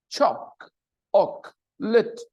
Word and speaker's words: chocolate: chocolate chocolate okay chocolate the spelling confuses you but when you listen to the pronunciation chocolate choc Ock lit it there are only two vowel sounds and the stress is on the first chocolate goes in the